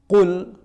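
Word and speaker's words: قُلْ: Qul. Jadi jangan dilebih-lebihkan. Qul. Tidak betul. Di negara Arab manapun tidak ada orang baca qaf itu ya.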